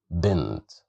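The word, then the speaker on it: بنت: And here we have the letter ba controlled by the kasra sound, so that's why we pronounce it as b, bint.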